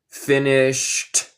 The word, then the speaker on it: finished: Vamos a pronunciar ed como T. Finished.